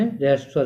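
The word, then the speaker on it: ह्रस्व स्वर: रहस्व स्वर कहते हैं, हस्वर नहीं कहते हैं।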